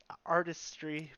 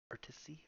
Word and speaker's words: artistry: Artisty. I always say that. I always say it wrong. Artistry.